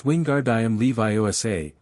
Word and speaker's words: Wingardium Leviosa: It's Wingardium Leviosa, make the gar nice and long.